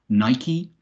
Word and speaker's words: Nike: Greek an Endon e have the e pronounced Nike apostrophe catastrophe you know